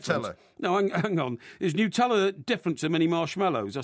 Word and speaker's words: Nutella: Is Nutella different to mini marshmallows? I suppose yeah, very it is. Different, yeah. Okay. It's a spread, and it's pronounced Nutella. Right. Because it's made of nuts.